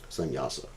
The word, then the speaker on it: sannyasa: Actually, the word sannyas is composed of 3 syllables, sannyasa.